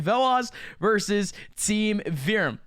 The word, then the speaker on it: Veloz: advanced playoffs it's team velaz v that's how you pronounce it right veloz versus team virum it's